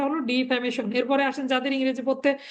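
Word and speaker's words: defamation: নষ্ট করা তাহলে ডিফ্যামেশন হচ্ছে মানহানি হ্যা ডিফ্যামেশন উচ্চারণটা হল ডিফ্যামেশন এরপরে আসেন যাদের ইংরেজি পড়তে খুবই সমস্যা মানে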